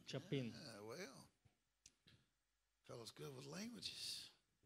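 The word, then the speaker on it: Chapín: Pronounced that good, didn't you? Chapin. Chapin.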